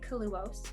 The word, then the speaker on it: Kaluohs: So I say Kaluohs, that's the way I pronounce it, because it's really just my last name spelled backwards.